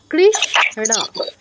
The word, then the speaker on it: কৃষ্ণ: এখানে সটা আমরা অর্ধেক উচ্চারণ করব কৃষণ কৃষণ কৃষণ এরকম ঠিক আছে রতন কৃষণ না না কৃষ্ণ হ্যাঁ কৃষ্ণ না দ্রুত বলতে হবে এখানে আপনার রস্য নেই খুব দ্রুত বলতে হবে আমি বুঝানোর জন্য ভেঙে বললাম আরকি আচ্ছা তাহলে আমরা